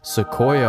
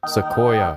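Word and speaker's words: Sequoia: but also new enough that we can put Seoia on here, right? That's how you pronounce it. Seoia. Seoia.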